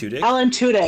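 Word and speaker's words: Alan Tudyk: How do you pronounce that, Julie? Alan Tudik Tudic as the robot.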